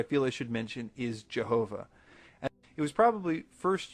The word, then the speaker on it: Jehovah: would transliterate the letter I as J because in Germany when they wanted to say the yes sound they most often used the letter J later on as people read this German translation they pronounced it differently because for instance the French looked at the same letter and pronounced it with a hard jazz sound and the English speakers